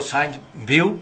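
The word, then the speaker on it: Sainte-Beuve: En ese tiempo el crítico Saint-Beuve, o B.A.V., así como se escribe, era un crítico muy refinado.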